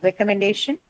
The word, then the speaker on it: recommendation: So well, the disyllabic adjective obviously gets marked on the first syllable. Okay. Then comes recommendation.